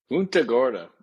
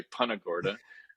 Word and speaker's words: Punta Gorda: And they do say it a bunch of different ways, by the way. Some of the locals say Punta Gorda. We're stubborn and we say Punta Gorda because we think that's the right Spanish pronunciation.